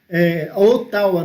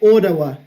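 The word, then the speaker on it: Ottawa: lá foram até mesmo eu falo ou tava né o tal é a capital do canadá mas o certo da pronúncia é hora lá e essa cidade tem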